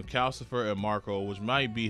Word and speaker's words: Calcifer: She also meets a fire demon here called Cal Calliser. Callis, hold on. How do you pronounce his name? Calcifer. That's what it is. There we go. Name Calcifer and Marco, which might be his son.